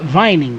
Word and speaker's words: Vining: That it is pronounced like Viking, but it's Vining.